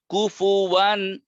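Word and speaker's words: كُفُوًا: ওয়ান ওয়ান ওয়ান কুফুয়ান। কাফের উপর পেশ ঠোঁট গোল, ফার উপর পেশ ঠোঁট গোল, ওয়াও নিজেই গোল।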